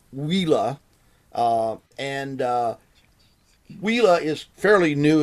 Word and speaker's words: Uila: a company that spelled you ila but it's pronounced Lila and Lila is fairly new in the industry